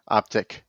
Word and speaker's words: Optiq: And they reiterated again, it's not Optique, it's Optiq. All these EVs with the IQ, it's Optiq. So it's Lyriq, Optiq, Vistiq. Then why do we have to make it a Q? Optiq.